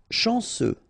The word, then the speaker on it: chanceux: Chanceux, final X not pronounced, this C-E-U, ce, chanceux, chanceux.